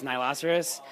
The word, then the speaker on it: Nihiloceros: it the first time you're good forever it's Nilo Souris so I last iris in rhinoceros if it